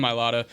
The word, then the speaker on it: Mailata: Is that how you pronounce his name? Yes. Yeah. Jordan Mailata, former rugby player, one of the few Australians